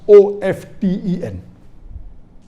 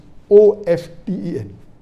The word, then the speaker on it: often: T is not silent, it should be pronounced. Some say T is silent, and then there's a big debate for that.